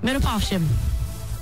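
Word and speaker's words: Mirupafshim: Miro Pavshim. Miro Pavshim. Miro Povshim.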